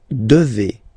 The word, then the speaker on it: devez: Okay, and then vous devez. Remember, classic ending for vous here, a Z, but then you pronounce this combination of two letters, et, devez, devez, vous devez.